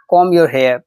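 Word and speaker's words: comb: अपने बाल बना लो कॉम योर हेयर यहां पर 20 साइलेंट है याद रखिएगा एम के बाद जब भी बी आएगा तो वो साइलेंट होगा उसका उच्चारण नहीं किया जाएगा दिमाग मत मारो दो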